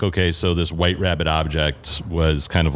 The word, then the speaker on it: wht.rbbt.obj: you introduce the band it is White Rabbit object you got it very good rabbit object there you go and it's and it's spelled if you if you look what is it wh HT period rbbt rbbt obj obj obj yeah why so so